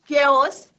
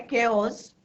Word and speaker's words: chaos: तो जैसे ही जो है केओस, तो यहाँ पे इसका प्रोनाउंसिएशन कैसे है, आपकी बुक में भी दिया है, केओस।